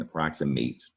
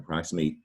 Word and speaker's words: approximate: pronounced at the end, approximate. And approximate is also an adjective, but the adjective form is not pronounced approximate, it's pronounced approximate, as though it was spelled M-I-T-T at the end.